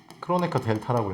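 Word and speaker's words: Kronecker delta: 이걸 뭐라고 부르냐면 크로네커 크로네커 델타라고 읽어요. 되게 특이한 기유지.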